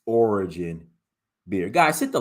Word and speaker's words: Orijin: So, Sip Police thought I said origin beer. No, it's origin beer. Origin beer. Let me spell it for y'all.